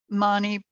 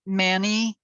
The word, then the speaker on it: Mani: All right, so the second syllable is Ma, so it's Om Mani Padme. Some pronounce it Mani. It is spelled M-A-N-I, but the Ma represents ethics and it purifies jealousy.